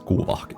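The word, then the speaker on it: Kuuvahki: The power that nod cry characters use is called kuvaki or I guess if you pronounce it correctly, it's kuvaki.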